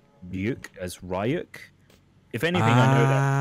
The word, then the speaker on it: Ryu: if there was like a big community of English speakers who would pronounce Ryuk as Ryuk.